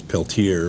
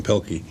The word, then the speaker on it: Peltier: His name was Peltier, but the mispronunciation, they called him Pelkey.